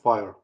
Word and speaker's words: FHIR: plethora of information and read about fire it's spelled as fhir so there's a ton